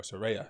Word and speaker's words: Saraya: so don't worry but soraya or saraya sarai whatever you want to pronounce it i'm from the hood i pronounce it soraya uh but sorry whatever